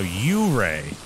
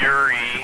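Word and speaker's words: yurei: A U-ray? Everyone always pronounces it Yuri, and then everyone giggles, but it's technically U-ray.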